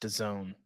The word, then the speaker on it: DAZN: That sound was 20% of our listenership realizing that it's pronounced DAZN and not.